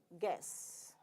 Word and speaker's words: guess: about gas okay so it is g u is gone we say guess okay just give me